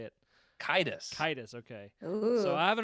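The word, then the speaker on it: Caedus: solo to take down Jason Darth is it cadis sadus how do you say it kidus kidus okay so I have not read Legacy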